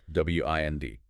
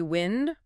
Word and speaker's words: wind: W-I-N-D. Can be wind, rhyming with send. That's the noun, moving air. Or wind, rhyming with find.